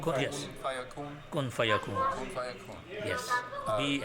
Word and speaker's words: kun fayakun: Kun fayakun.